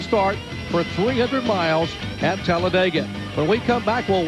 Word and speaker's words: Talladega: What a day for racing here in Talladega, Alabama. This racetrack almost doesn't need describing. It's a four-syllable word that means speed. You simply say Talladega.